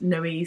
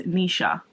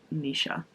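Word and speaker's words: Naoise: i've now realized that i'm completely pronouncing this lady's name wrong and it is nisha i think i'm like 99 sure that you pronounce it nisha dolan so um yeah i'm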